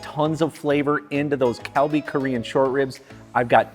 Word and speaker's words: Kalbi: They told me there's no good pronunciation for an L or an R, so it's somewhere in between, so it sounds more like Kalbi, Kalbi, with a little bit of R to it.